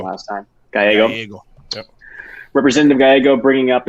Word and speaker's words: Gallego: But talking about how, while kudos to Gallego, is that how you pronounce it? Because I said it wrong last time. Gallego.